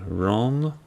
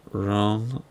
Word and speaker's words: Rønne: I'm pretty sure it's Rønne, R-O/N-N-E, Denmark. That O/ pronunciation. I have a child with an O/ in his name. And depending where you're from in the region, sometimes it's just a regular O.